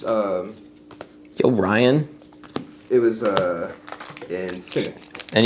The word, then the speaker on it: Yorion: Oh, it's Yo, Ryan. It was in Cynic. And yes, I pronounce it Yo Ryan. Yeah, that's fine. Not Yorion. So, because it's funnier. And probably also correct.